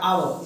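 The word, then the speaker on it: hour: अब आवर H silent होता है, आवर इसकी प्रोनाउंसिएशन होती है आवर, तो उस हिसाब से एक ही ऑप्शन बनेगा एन।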